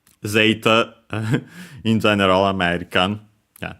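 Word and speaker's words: ゼータ: word and of course the accent is on the first syllable also uh zeta high and then everything else low.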